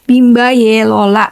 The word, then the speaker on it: Bimba Y Lola: Tapi, dibacanya Bimba Yelola.